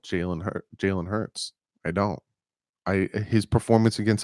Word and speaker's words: Hurts: So I just don't like Jalen Hurst. Hurts. I say his name wrong.